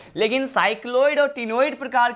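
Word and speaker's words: ctenoid: हैं, इसे कहते हैं टिनोइड। क्या कहते हैं इसे? टिनोइड कहते हैं। यहां पर सी क्या है, मैंने कहा यहां पर सी साइलेंट होता है।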